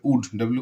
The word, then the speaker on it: would: they would be WOULD এটাকে তোমরা অনেক সময় উল্ড বলো উল্ড এটা উল্ড হবে না লটা উচ্চারণ হবে না হবে উড WOULD হ্যাঁ বি ওয়াকিং WALKING এটাকে তোমরা ওয়ালকিং